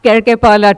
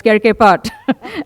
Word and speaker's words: Kerkepat: got that name wrong, it's not Kerkepalat, it's Kerkepat.